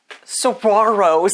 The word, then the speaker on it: saguaro: Saguaros.